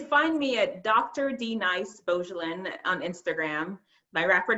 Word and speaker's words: Beaugelin: And Beau, most people are familiar, the person that you love, but this is Beaugelin, but it's spelled the same way, Beaugelin, Dr.Denise Beaugelin.